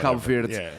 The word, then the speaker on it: Cabo Verde: see these teams way, you can call them Cabo Verde. Cabo Verde. You can say it correctly or not.